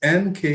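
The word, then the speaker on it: Nkeh: Oh, middle name is N K E H. K. It's called It's pronounced K.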